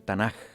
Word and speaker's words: Tanaj: yo estuve investigando y sale el tanaj si así se pronuncia pero así se escribe tanak se pronuncia el tanaj pero se escribe tan